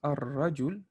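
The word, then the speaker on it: الرجل: For example, but if you say ar-rajul, when you have ra is one of those shamsiya letter. So you have to skip the whole lam. You have to go right over here. Ar-rajul.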